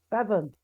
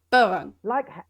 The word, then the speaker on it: Bevan: Bevan, Bevan. like Bevan. heaven. Heaven. Ah, yeah, Bevan.